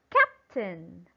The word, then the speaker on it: captain: put the stress correct it will be on the first syllable and the first syllable is cap now how should you read it okay it must be read as captain captain again it is